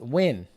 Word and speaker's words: Nguyen: Nguyen is pronounced win.